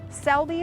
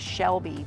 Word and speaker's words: Selby: they read it properly I think the issue with this one is a lot of times people just misread it as Shelby but it's not it is Selby botanical gardens uh and